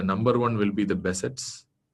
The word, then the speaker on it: Behçet: In that, the number one will be the Behçet's. I'm an Indian, so I'm pronouncing Behçet's, but ideally it should be pronounced as Behçet.